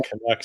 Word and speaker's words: Canucks: We call them Canucks here, but that's okay. Canucks?